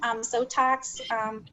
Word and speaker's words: Sotox: Sotox rhymes with Botox, so it does approximately the same thing.